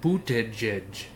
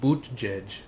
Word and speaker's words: Buttigieg: It's called Buttigieg. Okay. That's how you pronounce his name, Buttigieg. But when you look at it, you see butt guy.